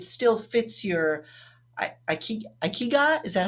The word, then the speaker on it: ikigai: reason that it still fits your i i ikiga is that how you say it again icky guy icky guy yeah i wrote it down in